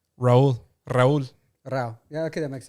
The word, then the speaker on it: Rauw: Tiny isn't spelled Tiny, but it's spelled Tainy. Because So what is Rauw's real name? Raul.